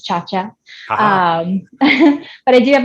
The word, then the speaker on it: Ciaccia: Yeah, I'm most active on Instagram, which is SCIACCIA, pronounced as Ciaccia.